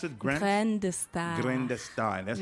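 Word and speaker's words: Graines de Star: How do you pronounce it? Grain de Star.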